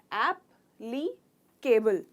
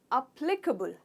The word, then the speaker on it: applicable: ऐप हो जाता है अप, प्ली, कबुल। तो केबल नहीं कहते हम, कबुल कहते हैं। क, ह का साउंड आता है इसमें, क। तो अप्लीकेबल, प्ली को स्ट्रेस करते हैं हम और कहते हैं अप्लीकेबल।